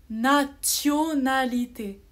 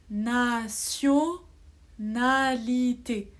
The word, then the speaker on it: nationalité: c'est vrai normalement si je lis je lis nationalité mais en fait ici t é o on le prononce sio nationalité c'est la même règle que celle que j'ai